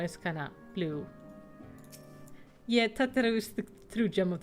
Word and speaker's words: Tataru: I know it's not how you pronounce it, but I will forever pronounce it as Tataru. Because he's so cute. It is Tataru.